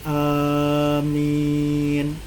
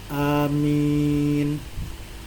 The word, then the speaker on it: amin: Jadi bacanya amin, hanya pendek, amin. Ini lugah yang kedua. Tapi yang lebih masyhur adalah lugah yang pertama, amin, hanya panjang, minnya panjang.